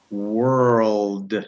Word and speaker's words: world: So the L, so you're kind of going, the tongue is touching, oh, D. It's going to come right. up. And then, if you put it all together, world.